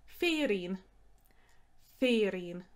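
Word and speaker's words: féirín: word for a gift or a present is fearing fearing gingerbread men fair shinshair fair shinshair christmas pudding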